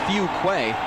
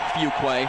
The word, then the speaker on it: Fuquay: one knows how to no one exactly knows how to pronounce his name he calls himself Fuquay that's what we're going to call him the coaches call him one thing his mother calls him a different one Fuqua who play Fuquay is